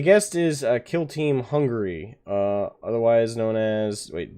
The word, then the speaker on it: Hungary: just uh google hungary it's not hungry it's spelled hon gary like g-a-r-y so everybody makes fun